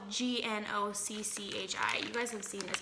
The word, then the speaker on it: gnocchi: It's her Instant Pot creamy gnocchi soup.